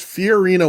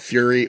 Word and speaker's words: Fiorina: Brad Dourif's character says the planet name wrong. The planet in Alien 3 is Fiorina 161, and they call it Fury or Fury 161.